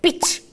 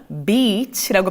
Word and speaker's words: beach: 제가 바닷가를 발음할 때 beach 하는 게 아니라 beach라고 발음을 하고 있잖아요. 여기서 정말 조심하셔야 될 게 있습니다. 이걸 갖다가 만약에 발음을 짧게 해가지고 beach 하시잖아요. 그러면 이거 욕이에요.